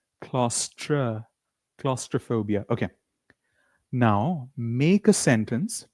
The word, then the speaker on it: claustrophobia: And the last one is claustrophobia that many people mentioned is enclosed spaces which is please repeat after me claustra. We don't say claustro. We say claustra. Claustra claustrophobia.